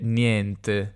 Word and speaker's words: niente: varie pronunce per esempio federica e silvia che sono del nord di milano e di padova dicono te e niente te e niente età non piacerà per niente affetta non piacciono per niente mentre tutti gli altri io dico te e niente tutto aperto nel mio modo di parlare tutti gli altri invece dicono niente quindi al contrario the chiusa niente aperto e non piacerà per